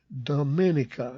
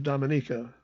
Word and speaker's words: Dominica: K and The Operators there apparently from Italy pronounced the island Dominica instead of Dominica like the locals say from somewhere in Europe